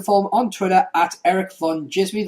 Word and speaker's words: Erik Van Djismie: And for the one that isn't here, you can follow him on Twitter at Erik Van Djismie. That's ERIKVANDJISMIE. And remember, the D is silent.